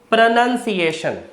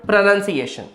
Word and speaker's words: pronunciation: तो प्रोनाउंस से बना है, लेकिन इसकी स्पेलिंग में नाउन की स्पेलिंग नहीं आती। इसलिए प्रैक्टिस कीजिए, प्रोनाउंसिएशन नहीं, प्रोनंसिएशन।